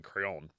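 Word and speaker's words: Craon: crayon and it's not crayon c-r-a-o-n crayon again this is French my favorite thing to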